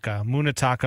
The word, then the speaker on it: Munetaka: Do you pronounce his first name M-U-N-E. Munetaka? Yeah, Munetaka Murakami.